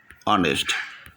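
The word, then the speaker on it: honest: এই দেখো খেয়াল করো এখানে এইচ এর উচ্চারণটা বাদ এইচ এর উচ্চারণটা বাদ অর্থাৎ আমি দেখায় দিচ্ছি এইচ এইরকম না অনেস্ট এইচ এর উচ্চারণটা এখানে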